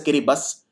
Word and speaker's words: Kiribati: These countries are four: Bhutan, Kiribati, also called pronounced as Kiribati, then there is Sao Tome and Principe and Solomon Island.